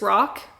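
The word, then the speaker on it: Rahk: This is Rock's Rock I think is his name. It's not spelled rock. It's spelled R A H K. Rock.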